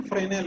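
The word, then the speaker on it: Fresnel: तो उसको, ये फ्रेजनल ऐसा उसका स्पेलिंग है, प्रोनाउंसिएशन फ्रेनेल है, फ्रेनेल लेंस।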